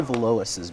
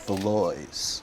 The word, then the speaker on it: Valois: in a nutshell and i always say velouses but it's beloise i i've been wondering